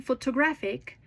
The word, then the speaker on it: photographic: And in photographic, the stress moves again, this time to the third.